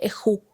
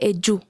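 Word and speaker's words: ejú: Algo particular acá es que la letra J se lee como si fuese Y en español, o sea, Y, eyu. Así es como se lee, no se dice eju, se dice eyu, es la forma correcta de pronunciar. También ejarno mina o ejarno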